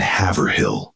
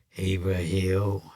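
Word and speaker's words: Haverhill: Lawrence, Lynn, Boston, and Havill. These urban are the name of the town is Haver Hill, Hero. I used to say it wrong.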